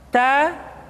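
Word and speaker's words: ت: ta ti tu bat tidak boleh membaca huruf ta misalkan dengan menyentuhkan ujung lidah dengan gigi kita ta ti tu bat itu kesalahan pertama yang kedua nafasnya tidak mengalir bat ta bat mestinya ta bat tabat perhatikan latihan di dalam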